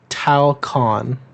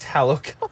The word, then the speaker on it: Talokan: Talcon. Talcon? No. No, there's another T in there. Talo. I think it's Talokan actually. Talo. No, you're thinking of. Oh, it is Talokan.